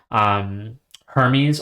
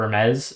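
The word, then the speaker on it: Hermès: I think somewhat similar is this is starting to make me think of like Hermes or Hermes, depending on your pronunciation of it, the clothing luxury brand.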